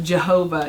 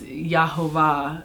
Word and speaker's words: Yahuwah: it's not really jesus it's not jehovah you know it's yahuwah it's it's it has a different meaning when you because there's no js in the in the hebrew language when you pronounce his